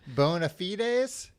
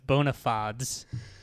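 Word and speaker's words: bona fides: Is that how you pronounced that phrase? Bonafites. It's bonafods.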